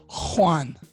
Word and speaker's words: Juan: No, it's Juan. Oh, okay. Juan. It's actually pronounced Juan.